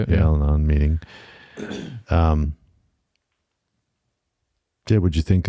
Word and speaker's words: Al-Anon: Yeah, Al-Anon meeting.